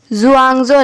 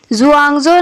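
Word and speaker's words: Xuanzong: बनवाया था Tang empire जुआंगजो ने। तो इधर एक्स जो है वो जेड का प्रोनाउंसिएशन लाता है, ठीक है। जुआंगजो ने उनसे उनका लास्ट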